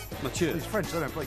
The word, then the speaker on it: Mathieu: Matthew. Mathieu. He's French, they don't play cricket. Mathieu.